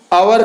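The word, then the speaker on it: hour: देख लीजिए, जैसे अब इसका प्रोनाउंसिएशन आवर करेंगे तो एन लगेगा, लेकिन अब यहाँ देखिए एच से स्टार्ट, एच से हो रहा है, लेकिन इसका प्रोनाउंसिएशन क्या कर रहे हैं हम, आवर, जो कि आ से आ रहा है, इसलिए इसमें एन लगेगा।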